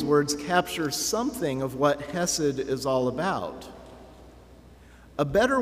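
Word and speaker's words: חסד: Hebrew is the word hesid if you want to pronounce it really accurately you would do a gargling sound in your throat when you when you say the H it's hessed but I'll spare you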